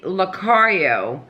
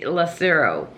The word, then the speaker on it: Lacario: this lady's last name, I have said this lady's last name wrong for over a year and a half. It's crazy. It's for Tracy Lacario, and I have always said Tracy Lacero.